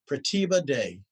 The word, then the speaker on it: Pratibha Dey: and please forgive me if i say your name wrong but i think i have it right pratibha day is that absolutely correct see look at that